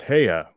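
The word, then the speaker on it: Haigha: happy his name is hayah he pronoun uh oh parmie his name is heya he pronounced it as to rhyme with maya i love my love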